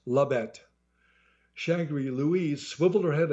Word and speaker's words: Labette: that Lae no ma'am not Lae it's two syllables Labette shangry Louise swiveled her